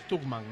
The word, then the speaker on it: Stuckman: La pronunciación correcta es Stuckman, ¿no?